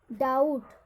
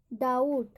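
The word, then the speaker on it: doubt: डाउट, डाउट, यहाँ पर भी बी का उच्चारण नहीं होगा।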